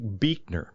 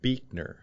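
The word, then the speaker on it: Buechner: my kind of Heroes his name was Frederick beekner Frederick beekner and that's spelled b-u-e-c-h-e-n-e-r one of my favorite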